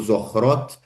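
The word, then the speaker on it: Zochrot: A gente vive isso o tempo todo, mas eh para quem quiser lá, então dessa organização que o João comentou, Zorrot, eles têm um e eh um aplicativo que chama I return e Zorrot, né?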